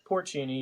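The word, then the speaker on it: porcini: salt porini salt is how is how you pronounce it porini yep get some golden oyster there you go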